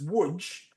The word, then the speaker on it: Łódź: And now you come to a place called Lodz, L-O-D-Z, but properly pronounced it's Łódź, the Polish pronunciation.